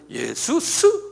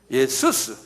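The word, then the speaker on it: Ἰησοῦς: 지저스란 건 영어 이름인데 이게 원어하고 달라요. 스펠링은 같지만 지저스란 말은 영국 사람들이 만드는 거예요. 그건 비성서적이에요. 본래는 예수스 그러네요. 발음해 보세요. 예수스. 이게 이제 그리스 말이거든요.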